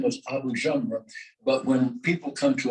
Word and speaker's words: Jamra: people come to America, they drop the Abu. And so I have cousins who are Jamras. They're Jamras, you know, and that's how it's pronounced here, Jamra, but it should be pronounced Jamra.